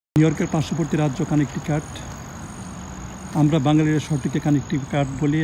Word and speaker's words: Connecticut: নিউ ইয়র্কের পার্শ্ববর্তী রাজ্য কানেকটিকাট। আমরা বাঙালিরা শহরটিকে কানেকটিকাট বলি এবং ইংরেজিতে যেভাবে লেখা হয় ঠিক সেভাবে পড়লে শব্দটি হচ্ছে কানেকটিকাট। কিন্তু কানেকটিকাট বললে আমেরিকানরা সহজে বুঝতে পারে না, আমেরিকান উচ্চারণে বলতে হয় কানেকটিকাট।